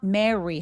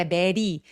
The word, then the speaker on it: marry: marry 할 때 marry 아니고 입술 내밀고 알 발음 marry 이렇게 해주세요.